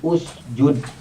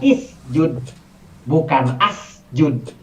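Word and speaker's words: اُسْجُدْ: itu anvalnya adalah dhomah maka dikasihnya u jadi usjud yaitu bukan is judge tapi Bagaimana dengan yadha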